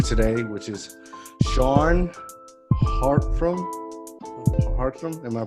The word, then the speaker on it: Hartrum: Hartrum, am I pronouncing it right?